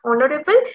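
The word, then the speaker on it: honourable: তো বি পার্টে ভুল, কারণ article an is used before অনারেবল অ্যাজ এইচ is silent.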